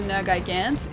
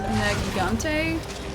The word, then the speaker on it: Nergigante: And then I also learned that the, what I was calling a Nergigant is pronounced Nergigante or something.